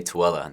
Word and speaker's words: Tooele: Or if you can say Tooele, that's a city that if I told you how it's spelled, you wouldn't be able to say it.